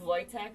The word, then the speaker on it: Wojtek: Wojtek, but it's Wojtek. spelled with a W.